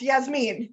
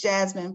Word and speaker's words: Yasmin: Yes, Yasmin, thank you. Go ahead. It's pronounced Jasmine, Professor.